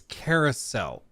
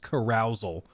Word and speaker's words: carousel: pause the game carousal correct me if I'm wrong I think it's Carousel I've I've never heard it pronounced carousal carousal sounds like when